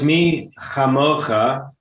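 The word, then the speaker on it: מי כמוכה: That's where So it's me chamocha, and that's where the accent is on the letter there.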